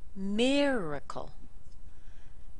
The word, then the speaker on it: miracle: small sound D calendar Miracle very strong and two week syllables Miracle here's a good